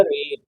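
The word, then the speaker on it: read: तो रीड ऐसा वर्ब है जो फर्स्ट सेकेंड थर्ड फॉर्म तीनों में सेम स्पेलिंग के साथ लिखा जाता है, लेकिन सेकेंड फॉर्म को रेड पढ़ते हैं और थर्ड को भी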